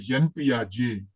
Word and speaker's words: Jean Piaget: Yeah, the first one is because I pronounce it Jean Piaget because it's a Swiss scholar, Swiss. As much as I remember, I may be wrong, but Swiss scholar. That's why we pronounce Jean, not Jean, Jean.